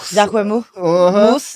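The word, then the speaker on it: Jacquemus: about that's how you say it J Mo J moose yeah them cuz they have they're very minimalist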